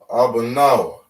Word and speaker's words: Abanawa: So we have a ah, ba, na, wa. Right? Abanawa, which means our Father.